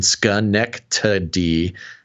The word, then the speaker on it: Schenectady: Basil Schenectady, and then he gives me the pronunciation, Schenectady.